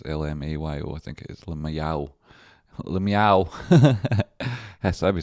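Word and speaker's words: LYMAO: So it's Lamayo. So, like, is that even what it is? L-M-A-Y-O. I think it is Lamayow.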